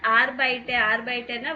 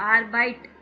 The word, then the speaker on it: arbeite: ஓன் ஆர்பைட்டர்னா work. So இங்கே என்ன ending இருக்கோ அது கண்டிப்பாக நீங்கள் ப்ரொனவுன்ஸ் பண்ணணும். ஆர்பைட் அப்படின்னு சொல்லிடக்கூடாது. ஆர்பைட்டே. ஓன் ஆர்பைட்டே இன் 2 restaurants அப்படின்னா என்னது?